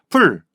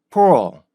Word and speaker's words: pull: 그래서 풀 요까지 가는 게 우리나라 말이고요. 포 요게 영어예요.